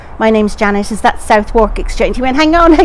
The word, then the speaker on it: Southwark: So of course that in itself, why pronounce something Southwark?